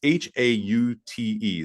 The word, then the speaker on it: Haute: And it's like oat. The correct pronunciation of oat, it's Haute.